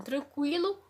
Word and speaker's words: tranquilo: A gente percebe-se que a perda da trema não afetou a sonoridade, a pronúncia da palavra. Então, tranquilo continua com a mesma pronúncia, tranquilo.